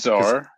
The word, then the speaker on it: Czar: How do you pronounce that? I think it's Czar.